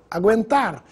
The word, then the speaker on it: aguentar: da pronúncia do Gu mudo para o Gu pronunciado Gu guerra sangue largue Gu aguentar bilíngue en chago da mesma forma vamos ver